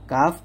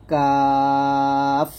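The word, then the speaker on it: كاف: 5 নং মাখরাজ জিহ্বার গোড়া হতে বা জিহ্বার গোড়া থেকে একটু আগে বাড়িয়ে তালু বরাবর উপরে তালুর সঙ্গে লাগিয়ে কাফ পাতলা করে উচ্চারণ করতে হবে, কাফ।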